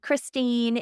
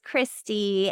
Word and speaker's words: Christy: It's not Christine, it's Christy.